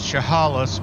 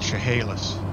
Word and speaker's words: Chehalis: Well, she pronounces it Chahalas, but growing up and when I lived there in that area, it was called Chahalas. That's how we pronounced it. So, probably just a difference in how you want to pronounce stuff.